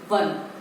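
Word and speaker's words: won: Second है नील एंड विन लिखा है, तो विन का हम कर देंगे चिल्ड्रन 1. इसको बोन नहीं पढ़ते, इसको हम 1 पढ़ते हैं.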